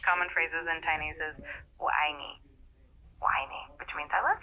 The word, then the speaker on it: 我爱你: It's pronounced 我爱你. The 我 sounds like whoa in English with a slightly rising tone, and I is a sharp falling tone, and me is a rising tone.